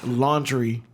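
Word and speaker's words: Laundrie: is brian it's pronounced it's spelled l-a-u-n-d-r-i-e but it's pronounced a lannister is he a lannister do we got any games of throne fans in here it's pronounced laundry whoa i'm gonna do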